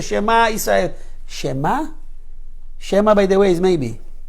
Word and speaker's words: שמע: Shema, by the way, is maybe. How do you need to say? Shema, the Ayin comes from here.